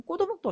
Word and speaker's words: 꽃오목: 그럼 꼬도목도 어떻게 발음하는지 알겠죠?